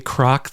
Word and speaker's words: Kroc: I mean, there's a bit about, because he's talking about Ray Kroc, the founder of McDonald's. And he says, he's got this line, like, it's like crocodile, but not spelled like that.